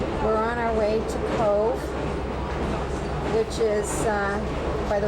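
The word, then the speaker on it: Cobh: And uh we're on our way to Cove, which is uh by the way that's spelled C O V H but pronounced C O V Eco.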